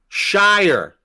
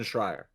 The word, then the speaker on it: Schreier: I can't ever pronounce his name, brother. Shire. Really? That's a lot of syllables in there. Jason Schreier.